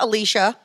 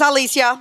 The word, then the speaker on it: Alicia: It is not Alicia. Um, that hurts my feelings very, it's not the white pronunciation, but um, it is Alicia. My name is Alice in Spanish.